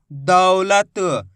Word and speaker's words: दौलत: इसी तरीके से आपको उच्चारण करना है दौलत, ऐसे नहीं पढ़ना दौलत। दौलत पढ़ोगे तो ओ की मात्रा का उच्चारण हो जाएगा। कैसे पढ़ेंगे, दौलत, जोर लगाएंगे दा के अंदर, दौलत, इस तरीके से।